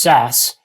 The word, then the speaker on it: SaaS: software as a service abbreviated saas and pronounced SAS is now the dominant